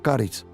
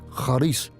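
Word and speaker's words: χάρις: En griego solo hay una palabra que se llama haris o caris, pero se pronuncia y se escribe con haris.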